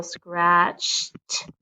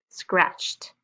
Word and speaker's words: scratched: Okay, so we're going to use the t sound with the ed. So scratched. It's going to sound like a T. Scratched.